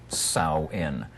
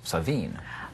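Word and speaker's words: Samhain: h a i n the MH in Irish Gaelic is a w the a is silent so sa in if you talk to someone from Scotland the MH is a v so it's savine Mark this is such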